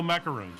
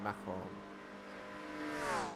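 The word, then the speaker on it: macaron: uh Macar macaroons oh macaroons yeah yes well we say macaroon in in American I don't know if that's how they pronounce it in in in France it's maon yeah macaroon uh Howard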